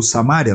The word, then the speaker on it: Samaria: E Amós foi um profeta que profetizou para esse reino, cuja capital era Samaria, ou Samária, na pronúncia de alguns, e que o texto do capítulo 13 e também do capítulo 4 vai citar muito essa cidade.